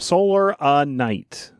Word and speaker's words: Solar Night: I would go to is it solo night or solar night because I see it both ways don't I yeah I think they do it's spelled with an extra a in the center of it it's solar night I don't leave well Jeff says soul and I think Jeff gets it wrong yeah but I just